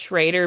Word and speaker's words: Schroeder: Ryan just sent me her thing and it's pronounced Schrader, but it's spelled Schroeder.